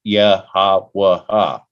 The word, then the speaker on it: YHWH: Well, I brought up the fact that I said it should be pronounced Yahawah.